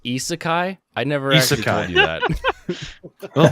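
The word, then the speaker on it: isekai: on the uh the asaki genre oh yeah it's pronounced isakai i never do that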